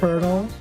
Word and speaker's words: colonel: That colonel needs to relay some information to the manager and I was picked because he trusted me.